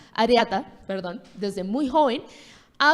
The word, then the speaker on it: areata: de Yada Pinket Smith y a lo decía Aeretea es que es difícil de pronunciar areata, perdón, desde muy joven ha habido eh hablado